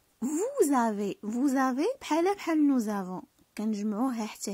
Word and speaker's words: vous avez: هذيك s avec a كتقلب لينا z. Vous avez بحال nous avons.